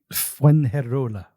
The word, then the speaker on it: Fuengirola: in Spain in a little beach town called Fuengirola, which took me forever to figure out how to pronounce. It's fun to say. Say it with me. Fuengirola.